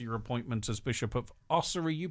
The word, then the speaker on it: Ossory: right up to your appointment as Bishop of Ossory. You pronounce it differently. How do you pronounce it? Ossory.